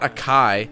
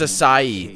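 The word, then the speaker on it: açaí: It's not Akai. It's Acai. That's how you say that word. Not Akai. It's Acai. Just like that.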